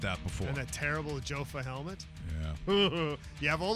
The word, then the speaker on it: Jofa: And that terrible Jofa helmet. Yeah. You have all those choices and you pick a Jofa helmet? Yeah. Come on, Rudy. Someone said, you know it's pronounced Yofa.